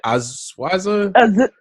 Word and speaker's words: Azusa: Azusa.